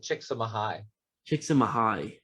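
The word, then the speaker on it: Csikszentmihalyi: name's season mihai so he's actually pronounced it chicks chicks in mahai yeah but who would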